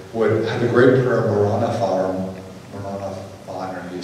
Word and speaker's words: Maranatha: And the early Christians, by the way, would have the great prayer, Maranatha, you say it correctly, but our Lord come.